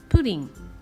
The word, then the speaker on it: プリン: We pronounce it as Purin.